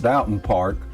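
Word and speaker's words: Doughton Park: Dalton park or pronounced Dalton park by the locals it's the largest Recreation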